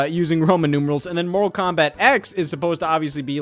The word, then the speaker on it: Mortal Kombat X: But no, Mortal Kombat 10 is not actually called Mortal Kombat 10. It is actually officially pronounced Mortal Kombat X because they then later